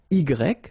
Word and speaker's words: y: And in that case, it does mean that it would be possible to use this Y, so I, you pronounce it I, okay?